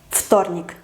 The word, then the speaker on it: вторник: Tenemos V y T, pero como la T es sorda, la V no se puede pronunciar sonora, tiene que hacerse sorda. Su pareja es la F, entonces вторник, вторник.